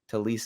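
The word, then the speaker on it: Taliese: the first round or I think it's pronounced like tiis I always mispronounce his name uh you had Joshua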